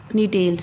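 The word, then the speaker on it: Gnetales: बेटा जी is silent नीटेल्स में, right.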